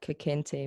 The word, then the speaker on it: Kekente: Speaking of more, can you tell us about Kekente music, if I'm pronouncing that correctly? Ah, you are pronouncing it correct.